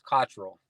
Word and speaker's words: Cottrell: I've been called it all, but the right way to say it is Cottrell. All right, there we go. Cottrell.